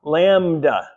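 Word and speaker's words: λάμβδα: So we have L, the lambda shape, then an alpha, then a mu, a beta, so that's lamb, and then you get the delta, d, and the alpha, lambda.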